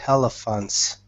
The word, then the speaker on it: elephants: There is some water in the lake near the elephants. All right. Be careful of elephants. Don't pronounce an H.